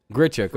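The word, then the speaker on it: Grichuk: physically do that randall grichard gets the plate grit checker okay that's how you say his name oh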